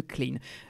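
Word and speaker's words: Klijn: J'ai entendu, je savais que le J ne se prononce pas, donc je crois que ça se dit de Klein. K L I J N.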